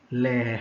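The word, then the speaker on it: lehr: Okay, nama oven itu kita panggil dia sebagai layer. Layer. Kalau sebut ada layer, okay, ejaan dia L-E-H-R. Okay, jangan sebut leher lah, layer.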